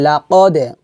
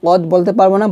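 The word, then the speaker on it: لَقَدْ: হাক্কল বলতে পারবো না, বলতে হবে লাকদে, কদে, কারণ দালটা হচ্ছে কলকলার হরফ।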